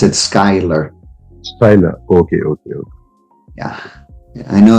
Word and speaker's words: Schuyler: Yes, they pronounce it Schuyler.